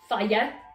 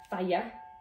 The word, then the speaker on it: Fage: And then last but not least, I've got one of these big Faya, that's how it's pronounced. Faya. It tells you on here, Fage if you want to say.